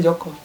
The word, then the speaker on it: Jaka: Ya, Jaka Tarub ini anak yang baik. Joko. Enggak bacanya Jaka. Oh, namanya Joko. Enggak sih. Dibaca aja Joko. Iya. Gitu. Joko kalau dalam Magaja bacanya Joko.